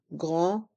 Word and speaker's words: grand: Un grand magasin. Un grand magasin. Dans le mot grand, le D est muet et les lettres A et N font le son en. Grand.